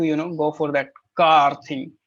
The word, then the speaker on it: quart: suggest you to you know go for that car thing c q u a r t car